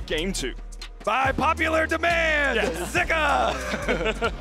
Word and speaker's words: Zika: and it was pronounced zuka on the LPL English broadcast but we have seen some people saying that in Chinese it's actually pronounced more with an i zika so I think for